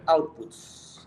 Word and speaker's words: outputs: Se pronuncia outputs. Ya, outputs. Ya.